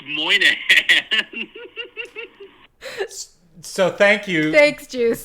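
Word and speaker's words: Moynahan: like 10 seconds to figure out how to pronounce Bridget Moynihan's name. It's Moynihan.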